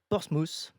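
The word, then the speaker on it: Portsmouth: Tu es né en 1974 à Portsmous en Angleterre. Je le prononce bien forcément.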